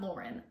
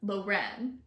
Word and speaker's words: Loren: disappointed this follows luren it's not Lauren luren this follows Loren and Daren